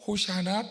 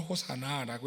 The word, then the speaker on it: 호산나: 줄임말이 돼서 호산나, 우리가 읽을 때 호산나, 그들은 호샤나 또는 호사나라고 읽었죠.